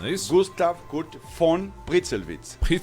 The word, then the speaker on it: Gustav Kurt von Pritzelwitz: O V em alemão se pronuncia como se fosse F, né? Então, Gustav Kurt von Pritzelwitz.